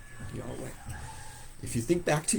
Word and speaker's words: Yahweh: actual name of God that we usually pronounce as y y way Yahweh if you think back